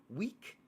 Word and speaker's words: Weech: Jumping back, it says Gulisha Gengar says his name is pronounced Week, but spelled Weech because it's German.